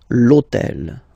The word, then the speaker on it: hôtel: starts with H, but remember that in French we don't pronounce H, okay, so basically the first sound of the word is the vowel O, okay, so for the same reason, E needs to disappear, l'hôtel, okay, so if we repeat